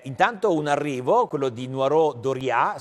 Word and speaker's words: Noireau Dauriat: un arrivo quello di nuoro doria si dovrebbe pronunciare in questo modo e poi equimax mi